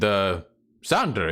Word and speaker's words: Xanderhal: Ian, Xelia, Hui, and Xander, is it? And he points at you, Aye. Xanderhal. It's pronounced Xander.